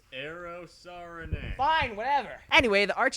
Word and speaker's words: Eero Saarinen: It's pronounced Eero Saarinen.